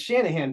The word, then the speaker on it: Shanahan: and I was like no it's Shanahan but some people think